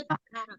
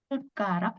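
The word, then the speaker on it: 숟가락: Jadi ketika nanti ada huruf diget ketemu sama giok, jadi nantinya bacanya seperti apa? Bacanya seperti huruf T dengan K. Jadi bacanya bukan Sudgarak ya, bukan pakai D seperti ini, bukan Sudgarak, bukan.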